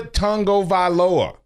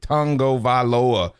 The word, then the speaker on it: Tagovailoa: It's Tua Tagovailoa. And we have it broken down in how to phonetically announce it, Tagovailoa.